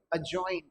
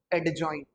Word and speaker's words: अजॉइन: और देखिए एक दो वर्ड, अगर मैंने कहा ए और जे के बीच में अगर डी आ जाए तो इसे पढ़ा ही नहीं जाता है, तो इसे पढ़ के दिखाइए कैसे पढ़ेंगे, अजॉइन नॉट एडजॉइन।